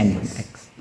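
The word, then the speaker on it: nginx: Engine X, bacanya Engine X.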